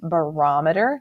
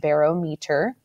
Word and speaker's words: barometer: This is pronounced barometer, not barometer, barometer.